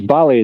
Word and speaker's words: ballet: That's ballet dancer, not belly dancer. I made it come across like belly dancer. I said ballet. Ballet dancer. Ballet. You don't pronounce it ballet. You don't pronounce the T.